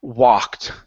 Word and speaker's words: walked: word is the word walked now this word is an a sound open your mouth nice and wide instead of saying wed okay this is a a a w walked Walked good an old